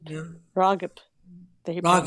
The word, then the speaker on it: Ragib: Ragib. Yeah. Ragib. They Ragib.